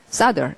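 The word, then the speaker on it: solder: 또 납땜하다라는 말이 이게 많이 쓰는 말은 아니겠지만 싸더라고 L 발음을 하지 않습니다. 자, 소리가 싸더, 싸더 이렇게 되고요.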